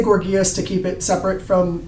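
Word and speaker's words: Gorgias: by gorgeous that's g-o-r-g-i-a-s g-o-r-g-i-a-s and some people pronounce it gorgeous for some reason but um I say gorgeous to keep it separate from the descriptive um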